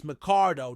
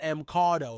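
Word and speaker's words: McArdle: To clarify quickly, his last name is spelled M C A R D L E. Therefore, it's Micardo, not Mardo, if that makes sense.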